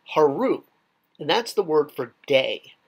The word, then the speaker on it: Haru: So day could be written with a sun sign, pronounced Haru, or you can actually write out the word Haru with the needed signs.